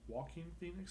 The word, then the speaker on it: Joaquin Phoenix: We're talking about the new Joker movie, which aired last Thursday, starring Joaquin Phoenix.